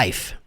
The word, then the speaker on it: life: Outra coisa, life, na pronúncia você não pronuncia o E. Fica desse jeito aqui, ó. Life.